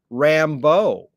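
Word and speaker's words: Rimbaud: that influenced everybody and i pronounce it i was told you pronounce it rambo oh yeah yeah yeah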